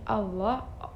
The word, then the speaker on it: Allah: Lafaz Allah dibaca tebal berbunyi Allah ee Allah apabila didahului oleh huruf yang berbaris fathah atau dommah.